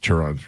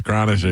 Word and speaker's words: Chronister: And they couldn't pronounce Chronister. They're like, Chiron. I go, it's Chronister. You should probably learn how to say it first, you dumbasses.